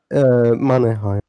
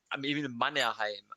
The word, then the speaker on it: Mannerheim: Emil Mannheim. Emmanuel Mannheim. I'm googling this shit. No. Emmanuel. No. Like Emil. Like Emil. Oh, Emil. Yeah. Emil Mannerheim.